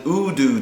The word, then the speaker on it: Udu: It's called an Udu drum, and it's spelled U-D-U, Udu.